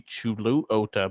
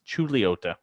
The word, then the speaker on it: Chuluota: other cities are said would you would think maybe Chuluota but no it's chuot ch okay how we get Lee in the middle of that when it should be Lou it really should probably be Chuluota but yeah because it